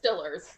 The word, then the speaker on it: Steelers: He specifically pronounces as Steelers gonna Super Bowl. Yes. It's Stillers.